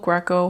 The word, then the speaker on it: Graco: we had was from GCO Greco however you want to pronounce it we say Graco but we had the